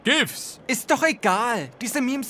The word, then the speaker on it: GIF: Das heißt Chiffs, Coach. Ausgesprochen wird es eigentlich GIFs.